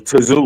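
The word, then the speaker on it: Tszyu: It wasn't Zoo, it was Tazoo.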